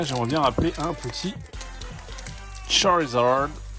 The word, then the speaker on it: Charizard: bien rappeler un petit Charizard, et oui il faut le prononcer à l'anglaise, étant donné qu'on est sur un pack US, anglais, hein, un Twilight qui soit vendu en Angleterre ou aux États-Unis, ça change rien.